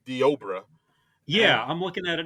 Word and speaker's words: Deobra: Yeah, it looks like it's spelled Deborah, but it's Deobra.